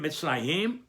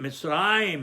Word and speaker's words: Mitzrayim: But we don't read it Mitzrayim, Milera, we read it Mitzrayim, Milarel. On the syllable before the last, there's another Segolta that they placed over the Resh in order to teach you that you pronounce it Mitzrayim, not Mitzrayim.